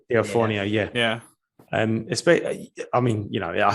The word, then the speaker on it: D'Onofrio: It's a shame for them, especially if they have to sit there and watch Charlie Cox and I can't pronounce Kingpin's name. Oh, Vincent D'Onofrio. D'Onofrio, yeah.